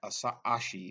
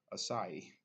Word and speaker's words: Asahi: tried this yet so why not I was pronouncing a she but Asahi let's pronounce it pardon the pun on that